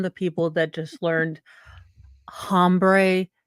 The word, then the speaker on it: hombre: But as I said, I'm a 12-year-old, and I am from the people that just learned hombre is not pronounced with an H.